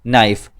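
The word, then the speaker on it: knife: silent अल्फाज कहते हैं जैसे एक लब्ज है इंग्लिश में नाइफ उसकी स्पेलिंग क्या होती है के एन आई एफ आई नाइफ लेकिन इसमें के साइलेंट होता है हम केक को पढ़ने नहीं है सिर्फ लिखा जाता है इसी तरह उर्दू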